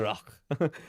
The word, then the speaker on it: Roques: And I love that I go Rock. Roques-O'Neil. It's also Roques in Spain.